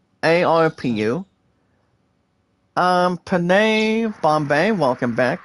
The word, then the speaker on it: ARPU: evans revenue per user that's pronounced guys as arpu um penae bombay welcome